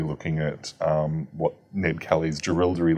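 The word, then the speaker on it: Jerilderie: What's the proper pronunciation? The Gerildery letter. Gerildery.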